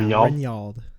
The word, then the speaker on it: Rinyald: Is that pronounced Rinyald? Yeah, Rinyald. Yep, you got it.